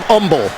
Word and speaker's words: Humble: Well, he's from Humble, Texas. As you know, the H is silent, Dan.